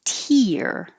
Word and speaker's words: tear: to tear up and this one is pronounced tear ear i also have that